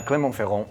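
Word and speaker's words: Clermont-Ferrand: are spending 3 days in an area called clemont feron say it like a boss uh clont feron and it's in the middle of France now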